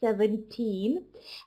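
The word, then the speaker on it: seventeen: Try to make a little bit longer E sound. 17.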